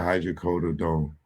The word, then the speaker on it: hydrocodone: operating in California agreed to send marijuana and hydrocodone, let me make sure I'm pronouncing that right.